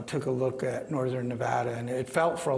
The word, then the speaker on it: Nevada: And and for those of you who aren't familiar, we pronounce it Nevada, not Nevada. Nevada.